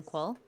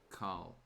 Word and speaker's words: Qual: It is good to see you again, Qual. Carl. No, it is Qual.